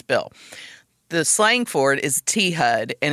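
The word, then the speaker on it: T-HUD: the slang forward is T HUD and it's spelled thud it's it's kind of you know one of those S words that sounds like like the sound it's imitating you know yeah it really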